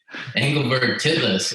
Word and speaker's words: Engelberg Titlis: Engelberg Titlis.